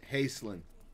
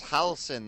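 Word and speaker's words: Halsin: we're gonna go find uh hastelin i think that's how you pronounce his name honestly i think hustlin dobby was more powerful than dumbledore oh it's halsen that's it yeah yeah yeah yeah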